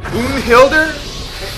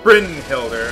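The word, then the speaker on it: Brynhildr: party what was that Bo Hilder what was that I don't get that that's Brin Hilder I don't know why he pronounced it the way he did but well I figured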